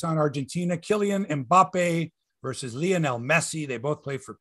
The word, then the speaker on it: Lionel: I want to say Lionel, but it's not like Lionel Hutz, attorney at law. It's Lionel Messi.